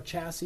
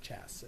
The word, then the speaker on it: chassis: We'll say, you know, chassis, you don't pronounce the s at the end. It's not chassis.